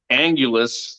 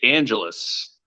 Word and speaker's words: Angelus: Yeah, and I thought the other Jake was Jake Angulus, but it's Jake Angelus. Yeah, I think one of the first EKF events I butchered that, and then when he told me what it was, I was like, oh, it's like exactly how it looks.